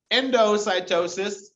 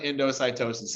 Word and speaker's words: endocytosis: combination of the two endocytosis you re say that i was just like to pronounce it like into cytosis okay this is where